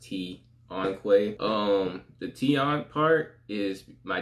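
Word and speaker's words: Tonqay: My name, for those who don't know, is Tion Quay, spelled T-O-N-Q-A-Y. But that's apostrophe, so it's pronounced Tion Quay.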